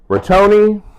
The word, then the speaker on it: rotini: I hooked on phonics how to say it because I kept saying rigatoni, and that's not right. So, rotini, you're going to need a pound of hamburger meat.